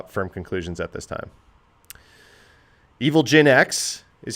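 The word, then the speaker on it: Evilginx: I like Evil Gen X better. I always say Evil EngineX because it's engine X, right?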